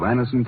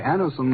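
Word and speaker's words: Anacin: For there are many people listening in now who have been introduced to Anison tablets by their own dentist or physician.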